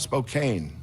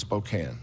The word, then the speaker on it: Spokane: our neighbors it's and it's not not Spokane and it's not Gonzaga it's Gonzaga and it's Spokane I appreciate that Gonzaga